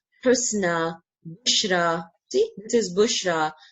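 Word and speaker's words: حسنى: Okay, we can see a ya in the end, but we don't pronounce it. We pronounce it kind of alif sound, sound, kubra, husna, sughra.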